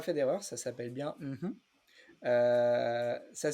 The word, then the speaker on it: mmhmm: Alors, j'ai pas fait d'erreur, ça s'appelle bien Mhm. Ça s'écrit MMHMM.